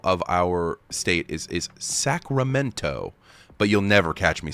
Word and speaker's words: Sacramento: Um, so like the capital of our state is is Sacramento, but you'll never catch me saying it like that. Sacramento. You say Sacramento. Sacramento. So there's just no T there. We just skip it.